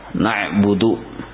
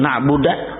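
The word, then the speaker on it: نَعْبُدُ: Na'budu dibacanya na'buda, kada berubah arti. Tapi lahan juga bila disengaja, bila disengajanya berdosa. Na'budu kami menyembah, na'buda tetapi kami menyembah kada berubah artinya. Atau na'budu kami menyembah tapi dibacanya ni'budu kada berubah juga arti.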